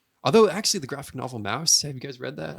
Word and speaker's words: Maus: Although, actually, the graphic novel Mouse. Have you guys read that? I read that in high school. Mm-mm. Never even heard of it. Mouse. Man, it's spelled Maus. Yeah, like Yeah. the German way.